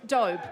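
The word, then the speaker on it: Doube: Jessica Hammond, Dobe. Like robe. Rhymes with robe.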